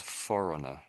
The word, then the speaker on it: foreigner: So, we in English we say this is foreigner. Foreigner. Foreigner. Foreigner. without G for a E I suppose a G not pronounced.